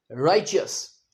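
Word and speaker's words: righteous: यह है इसका सही उच्चारण राइजियस और इसका मतलब है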